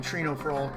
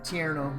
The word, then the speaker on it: Tierno: I call him Trino for some reason. Whatever. Tierno. This is how you pronounce his name.